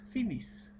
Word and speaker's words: finissent: Quito NT, sabemos que no se pronuncia, entonces cojo como suena, finis.